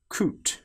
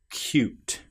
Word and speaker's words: cute: a difference because here we don't say coot, we say cute.